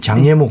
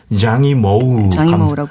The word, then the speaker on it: 장이모우: 이 작품을 우리는 이제 좀 옛날식으로 발음하자면 장예모 감독. 네. 요즘은 이제 발음 체계가 바뀌어서 장이모우라고 하죠.